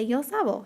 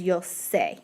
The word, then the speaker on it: sé: like normal, and so they say yo sabo. Yeah, but that word does not exist. That is not a Spanish word. The yo of the verb saber is yo sé, and it has an accent on the top.